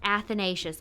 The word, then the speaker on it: Athanasius: athanasius i looked it up in practice athanasius i'm so sorry if your name is athanasius i can confidently say i've never met somebody